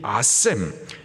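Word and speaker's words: אשם: 자, 속건제는 이것도 죄를 사함받기 위한 제사인데, 이 속건제의 히브리식 이름이 아셈, 죄의 책임, 죄의 피해, 손해를 말합니다.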